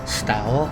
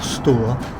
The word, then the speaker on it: Stour: have a look at the River Stour or Stoor, depending how you like to pronounce it.